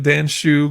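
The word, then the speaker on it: Dan Hsu: And before you come at me for saying his name wrong, Dan Shu goes by Dan Shu.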